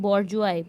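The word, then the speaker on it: bourgeoisie: बॉर्जुआई pronounce करते हैं, और इसका मतलब होता है मिडिल क्लास.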